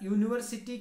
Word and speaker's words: university: on how we pronounce that noun so here university can be pronounced like as you so you this word